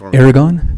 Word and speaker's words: Aragon: yes sir and I looks like it's AR but pronounce the first thing Aragon there we go okay we're gonna have to get everybody to print in the future yes sir it starts with an A but yeah it's pronounced Aragon thank you for hearing